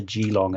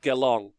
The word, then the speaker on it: Geelong: um yes summer sorry it's just apparently it's pronounced geelong you're flaming sorry i won't do that anymore apologies to all of you um oh here we go g long no gel geelong geelong geelong okay thanks finale get